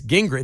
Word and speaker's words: Gingrich: It's Gingrich. It sounds like Newt Gingrich, but it's not spelled the same way.